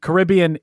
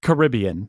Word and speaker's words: Caribbean: How do you say it? I say Caribbean. I do too. You could also say Caribbean.